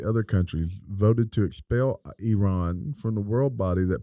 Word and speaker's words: Iran: as I am God I ran you know I ran I ran I don't know it's I ran it's Iran Iran I said it wrong it's Iran Iran ousted from the